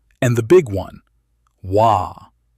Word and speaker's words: Waaagh: Waaagh! Not a word you say politely. It is a roar with a spelling. Three letters of vowel and a wall of consonant.